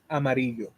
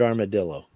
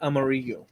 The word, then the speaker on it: Amarillo: the Rainman in 1989 Amarillo should actually be pronounced Amaro we pronounced it armadillo well yeah um root 66 it's in that song it's awesome um the way he names all the but the actual name is amaru yeah the double L's I know that yeah